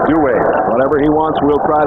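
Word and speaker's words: Duhe: Douay changed his name on it. It used to be Douay. Just Douay. Yeah. Apparently, though, the Cajun pronunciation is Douay.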